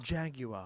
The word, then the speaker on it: Jaguar: Also, Jaguar, pronounced Jaguar. Jaguar.